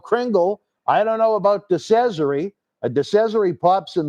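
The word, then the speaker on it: Cesaro: you never know about decessory i'm still learning how to say the name but i think i'm saying it right because he said it rhymes with treasury all right folks it's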